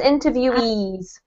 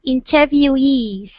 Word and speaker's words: interviewees: employee interviewer interviewee and to make it clearer we emphasize the E on the E one so it's interviewees okay interviewees interviewees perfect um last